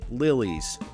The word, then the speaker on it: Lilys: Apparently I can't say Lilies to begin with, but anyway, it's just Lilies. And it's spelled Lilys.